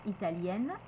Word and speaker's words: italienne: c'est une prononciation particulière le féminin se prononcera N et on n'ura plus la prononciation nasale on avait un et tout soudain ça devient n ça se libère exemple italien italienne moyen moyenne européen européenne